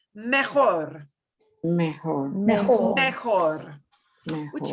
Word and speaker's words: mejor: Mejor.